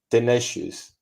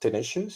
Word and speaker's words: tenacious: Spanish accent right perseverance and tenous is that is that well pronounced tenacious you say tenacious yeah um then you